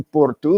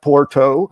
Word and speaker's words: Porto: reference to Portuguese city, I use a Portuguese word for it, or using a Portuguese pronunciation. So I'm going to Ericeira, not Ericeira. I'm going to Porto, not Porto.